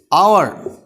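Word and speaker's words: hour: है, बट ध्यान से देखेंगे तो इसका उच्चारण, प्रोनाउंसिएशन, ऑनेस्टी, अ से है, ऑनेस्टी, एच तो एन ऑनेस्टी, आवर, अ से शुरू है, एन, एन यहां लगेगा,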